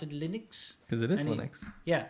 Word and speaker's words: Linux: Yeah, somebody's got to teach him how to pronounce Linux, though. We say Linux here.